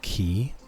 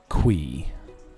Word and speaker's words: Qi: Okay, so I always thought it was key. And there are others who would sayqi, which both are technically correct, right? You could pronounce it key orqi based on the spelling. But then the 10th anniversary video came up and in that video it was pronounced qui.